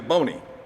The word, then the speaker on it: Boney: People sometimes call me Boney. Rhymes with Joni.